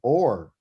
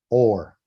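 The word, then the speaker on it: אור: The aleph is silent. Or Thank you. Or. That's how you say light. Or.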